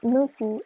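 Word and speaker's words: muthi: In some South African cultures, these owls are used in musi or traditional medicine and it's spelled m u t hi and it's believed to give special powers when consumed.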